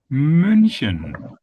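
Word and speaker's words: München: In German we say munchen. Munchion. Yeah. So there we have another vowel which is So So how do we get again?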